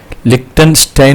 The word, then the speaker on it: Liechtenstein: ഒരു ചെറിയ രാജ്യം ഉണ്ട് ലിക്സ്റ്റൻസ്റ്റൈൻ തന്നിട്ടില്ലേ അതിന് വേറെയും ഒന്ന് രണ്ട് ഉച്ചാരണങ്ങൾ ഒക്കെ ഉണ്ട് ലിക്റ്റൻ സ്റ്റൈൻ എന്നാണ് അതിന് പറയാറുള്ളത് ഇപ്പൊ അങ്ങോട്ടേക്കാണ് ഇന്നത്തെ യാത്ര